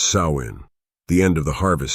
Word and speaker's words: Samhain: It marked the festival of Samhain, pronounced Samhain, the end of the harvest season, and the start of the dark, cold winter.